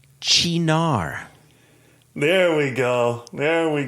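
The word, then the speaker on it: Cynar: little pronunciation assistance again c-y-n-a-r is pronounced chinar there we go there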